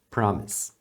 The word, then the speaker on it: promise: simples I Promise Prom lembra de não pronunciar esse e final tá é Promise Promise awesome você vai ouvir muito